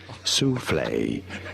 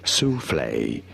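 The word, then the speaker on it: soufflé: do you say it sule sule for reference in French it is said uh as sule sule in English however sule is how it is said in English sule and now you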